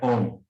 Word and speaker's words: ohm: resistência, a unidade é ohm, tá? Não é homem, não é ohm, não é ohm, tá? É mudo.